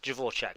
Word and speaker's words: Dvorak: I believe it's pronounced Dvorak, but anyway, she has a Dvorak keyboard.